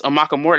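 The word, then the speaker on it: Amukamara: Prince Amakamura, that's how you pronounce his name, I believe.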